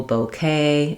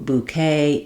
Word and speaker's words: bouquet: You can use matching vowels, like there was no bouquet at the wedding. She had a new bouquet each day.